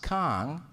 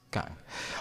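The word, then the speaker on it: Küng: Y ahí está, Hans Kahn. Ahora, Kuhn, ¿verdad? Se pronuncia.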